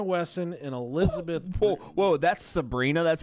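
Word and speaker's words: Sebhrenah: Whoa, that's Sabrina? That's how that's spelled?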